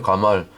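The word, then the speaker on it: גמל: 있고 영어로 케 똑같잖아요 가말 히브리 발음으로 가말이에요 바음 비슷 비슷하잖아요 영화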